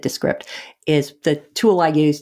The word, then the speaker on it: Descript: i started using um dscript descript or i guess they actually pronounce it descript is the tool i